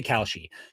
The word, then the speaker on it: Kalshi: I don't think I'm pronouncing it properly still, but I know the she part. We'll say Kalshi.